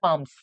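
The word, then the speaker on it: palms: इसकी जो प्रोनाउंसिएशन है वो है पाम्स।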